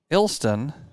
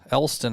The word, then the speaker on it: Elston: That will bring up the right fielder, Preston Ilston. Ilston, a sophomore. Elston, I think it's actually pronounced.